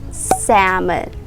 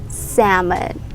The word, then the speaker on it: salmon: pronounce this word as salmon salmon you remove the l sound salmon salmon say it